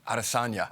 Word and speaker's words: Adesanya: He was interviewing UFC champion Israel Adesanya.